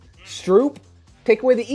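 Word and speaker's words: Stroupe: take away the e it's still stroop you're making me angry dan it's the same name like why did you add an extra letter dude it's s-t-r-o-u-p-e do you understand that the e soup is spelled s-o-u-p so you don't need an e at the end of soup okay names are funny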